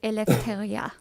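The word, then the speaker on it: ἐλευθερία: I did also promise that I was going to tell you how you pronounce Eleutheria. And the Greek way is actually Eleutheria.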